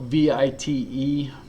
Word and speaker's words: Vite: It's spelled V-I-T-E, but it's said like Vite, V-E-E-T.